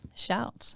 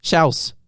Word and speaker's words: Shouse: shouts. How are you? How do you say it? Shouts. That's close. I can never get it right. Say house. House. Shouse. Shouse.